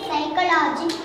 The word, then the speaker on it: psychology: I, say, say, a, say, ka, it, say, car, a, say, kala, j, say, kala, j, psychology. Q, P, silent.